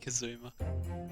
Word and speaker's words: Kazuma: Soggy Kazuma.